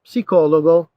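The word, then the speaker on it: psicologo: lo nyoko next one psychiatrist lo psico logo this is p s sound lo si co logo becomes yi si koloji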